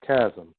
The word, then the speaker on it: chasm: The H is silent, buddy. That's what I thought. It's a chasm, right? Yeah, it's chasm.